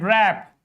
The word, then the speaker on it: wrap: W comes before R and wrap W comes before R in all these words, W is silent.